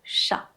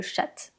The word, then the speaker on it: chat: Par exemple, le chat. Ici, le "t" est une consonne muette, on ne la prononce pas.